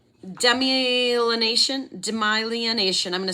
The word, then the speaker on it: demyelination: is going to be a tough one to pronounce demyelination domination demyelination I'm going to spell it d-e-m-y-e-l-i-n-a-t-i-o-n demyelination and